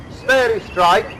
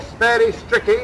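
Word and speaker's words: sphairistike: called in those days, according to one's pronunciation, sperry strike, or sperry stricky as some people call it, was introduced in about 1875, officially.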